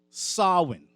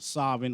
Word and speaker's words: Samhain: on the eve of Samhain, or Samhain, or some would say Samhain, but it is pronounced Samhain.